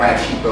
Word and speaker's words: Ratchitho: At Rat Cheeto, that's RATCHITHO. If you don't put the H in there, you ain't saying it right.